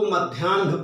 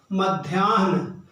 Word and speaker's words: मध्याह्न: मिल जाता है और इसकी वजह से हम इसको मध्याह्न पढ़ते हैं। मध्याह्न, पूर्वाह्न, अपराह्न, जबकि होता क्या है, पूर्वाह्न, मध्याह्न, अपराह्न। अगर हलंत लगाकर इनको लिखा जाए तो यह उच्चारण की यह जो गलती है यह भी नहीं होगी।